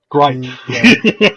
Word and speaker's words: Gripe: Gripe. One syllable. That's all Gripe.